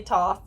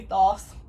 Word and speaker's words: Thoth: union of isis and tokes that's how i pronounce this some people say toss some people say thoth right yeah but when i connect i feel it is toast so that's what i'm gonna say um but one